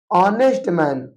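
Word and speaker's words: honest: हम देखते हैं कि पहला लेटर जो है वो एच है। बट यहां पर एच कंसोनेंट है लेकिन एच आपका यहां साइलेंट है। यहां पर एच को नहीं पढ़ा जा रहा है। इसको पढ़ा जा रहा है ऑनेस्ट मैन।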